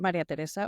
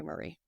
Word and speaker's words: Marisa: and I'm your co-host Marisa or for short but if you can't pronounce it muray is fine just don't call me Murray and today we are